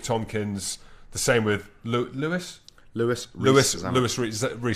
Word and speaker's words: Louis: always come out said stop calling me Louie it's Louis Louie and one Direction's felt